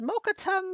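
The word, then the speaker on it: Mokkotum: me to tell you um my name is mokatum oh can you spell that it's not important as the dmi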